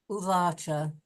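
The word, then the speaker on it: उवाच: Now you say it first, but in your singular Uvacha. pronunciation, uvacha.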